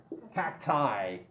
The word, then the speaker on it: cacti: Cacti. Cacti. One fungus. Two fungi, fungi, fungi, fungi, many pronunciations, yeah?